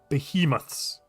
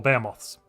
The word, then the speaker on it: behemoths: So if we do this one we cannot go for behemoths or beamoths depending on your pronunciation.